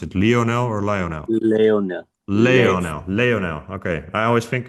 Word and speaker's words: Leonel: Um, and then Lionel said something like, so sorry, how do I pronounce it? Lionel or Lionel? Leonel.